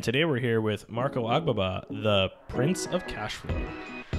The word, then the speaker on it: Agbaba: Agbaba. That's right. There it is. That's good. I pronounced it right.